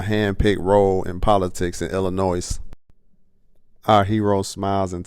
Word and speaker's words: Illinois: role in politics in Illinois our hero smiles and tells the nurse that the S is silent they both laugh our